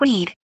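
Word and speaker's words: Wead: Later, he told his biographer, Douglas Wedd, "Yes, pronounced like weed.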